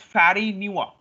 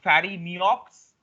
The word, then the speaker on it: Farineaux: So you can see it's not Fari Neops. Actually, the pronunciation looks like Fari Neops, but it is actually uh, when I say this word, it will be known as Fari Nua.